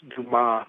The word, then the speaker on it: Dumas: interview with you and dumas is pronounced dumas by the way it's french well i'm pretty damn